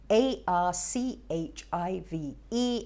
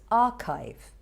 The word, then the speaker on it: archive: what an aisle is how about this one a r c h i v e it can be mispronounced the correct pronunciation for this is archive archive this one tends to get mispronounced as